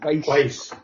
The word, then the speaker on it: Weisz: Rachel Weisz? Weisz? It's Weiss.